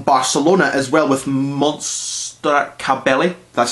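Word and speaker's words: Caballé: has the album Barcelona as well with monster cabelli that's how you say her name and a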